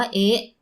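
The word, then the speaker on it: へ: ช่วย นี้ นะ คะ ถ้า เป็น ตัว อักษร จะ ออก เสียง ว่า เฮะ แต่ แต่ เมื่อ เป็น คำ ช่วย จะ ออก เสียง ว่า เอ๊ะ ซึ่ง เรา ต้อง แยก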